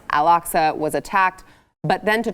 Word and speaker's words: Al-Aqsa: Al-Aqsa. Al-Aqsa was attacked.